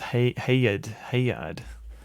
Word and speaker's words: Haggard: Haggard pronounced Hayard. Well, I mean, there's plenty of words that start with G, but also have like a soft J sound. For example, giant. For example, and giraffe.